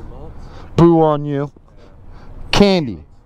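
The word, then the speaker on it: Kandi: Candy. Candy. Sweet like candy, sexy like a stripper. Because it's spelled K-A-N-D-I.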